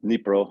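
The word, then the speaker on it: Dnipro: city that's right on the throw oh it's pronounced nepro I say denipro but nepro River um very close to the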